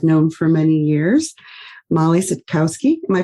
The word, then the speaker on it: Sitkowski: Today, I am thrilled to have with me a friend and colleague that I've known for many years, Mollie Sitkowski. Am I pronouncing the last name right?